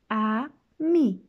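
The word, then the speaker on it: ami: say friend in French the word is army my mom says you see it like this ah me I love French everything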